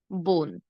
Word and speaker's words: বন: শেষে দন্ত ন থাকলে শুরুতে আমরা একটি ওকার দিয়ে উচ্চারণ করব।